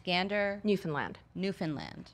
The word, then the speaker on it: Gander: It's Gander.